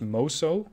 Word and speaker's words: Mutsu: Good thing I told the Mutsu to start turning. It's pronounced Moso. Or Musu. You mean you don't pronounce the T?